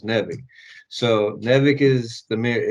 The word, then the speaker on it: Nivek: Nivek? No, Like it's Kevin backwards or something? it's Kevin backwards, but it's Nevik.